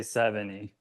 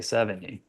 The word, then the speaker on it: Sevigny: but my my home, my family, we say 70. Okay. And yeah, over the years it's been with the G as well. I've used to say it that way, but just once my kids came into the world and um our household, we say 70, which is a which is a correct pronunciation.